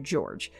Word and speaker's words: Jorge: is Hispanic in nature but his name is pronounced George so George Torres Jr